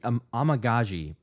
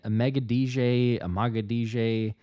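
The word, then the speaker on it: Amegadjie: I think it Amagaji, but for the longest time I was saying Amagadije. Yeah, there's quite a bit. Kieran's okay. I could say Kieran. Amagaji, I believe, is how I could still be mispronouncing.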